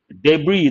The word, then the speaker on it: debris: so answer is g debris the letter s is silent part of speech noun